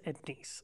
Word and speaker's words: Ednice: and not too long ago, she said, it's Edneese, so glad to have you here, sister.